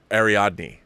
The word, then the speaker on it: Ariadne: are all mementos ari Ariadne ariadne's chess piece pardon me I've been saying her name wrong this whole article ariadne's chess piece are